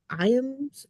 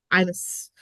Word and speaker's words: Iams: uh Charlie Nardozzi, Susan Martin, and Bill Iams. Am I pronouncing his right? I miss. Imus.